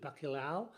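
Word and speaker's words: bacalhau: I think that's something something like that anyway it's spelled b-a-r-c-a-l-h-a-u bakulao and it's very tasty you can have all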